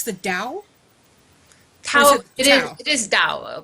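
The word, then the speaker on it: Dao: I believe it's the Dow it is it is but that's how you say it in Chinese but you know I've I've grown up here everyone says Tao I'm used to it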